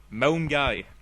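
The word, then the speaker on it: Milngavie: know the concept right Town number one is M guy or M guy sorry which is spelled m i l n g a v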